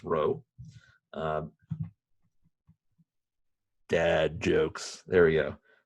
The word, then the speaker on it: rho: So this thing is pronounced row.